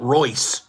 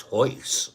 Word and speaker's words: Royce: years to figure out his name wasn't Roy it was Ho I feel like all Brazilian CU I know how to pronounce his name everyone else said Roy and I'm like no no no no it's Hoy remember that Royce Hoy